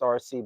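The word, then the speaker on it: Arcee: And I know RC, they spell it, it's pronounced RC, but it's A R C E.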